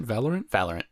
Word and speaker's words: Valorant: How do you pronounce that? Valorant? Valorant.